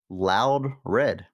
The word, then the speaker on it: Loudred: The Bible, again, to refer to it, says actually Loud Red. Loud Red. Loud, all caps, you emphasize loud dash red is how I pronounce it.